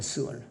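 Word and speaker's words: שְׁאוֹל: 두 번째, 지옥이 구약에서는 발음은 스월이라고 합니다. 스월.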